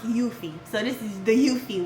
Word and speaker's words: Eufy: the Willow Go mom cozy and this one is the iffy ify or iffy. Sorry, I don't know if I pronounced it wrong. So, it's actually pronounced Yuthie.